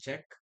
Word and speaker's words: Czech: Actually, Czech. It should be pronounced Czech.